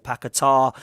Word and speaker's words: Paquetá: We have, of course, been linked with Lucas Paqueta, or Paquetá, as some people are saying it is pronounced, over at Leon, who's a player who was apparently best mates with Bruno Guimaraes at Newcastle.